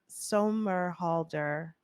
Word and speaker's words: Somerhalder: No, It was a boarding school story, and it had Ian Somerhalder.